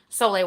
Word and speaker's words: Sole: videos on YouTube about Soleil water but it's spelled Sol e so if you're looking